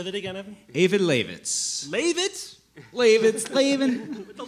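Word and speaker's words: Eyjafjallajökull: So what we have here is a glacier in Iceland, pronounced Eyvindarlaxvits. It took me a long time to... Say that again, Evan. Eyvindarlaxvits.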